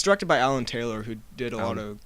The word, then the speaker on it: Alan Taylor: It's directed by Alan Taylor, who did a lot of Game of Thrones episodes. Oh. But he also did Terminator Genesis. Is it Alan Tyler? No, it's Alan Taylor.